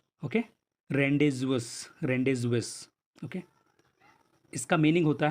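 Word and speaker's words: rendezvous: बाकी इसके प्रोनाउंसिएशन अलग अलग तरीके से किए जाते हैं, जैसे ये फ्रेंच वर्ड है तो इसको रेंडेवो भी बोला जाता है।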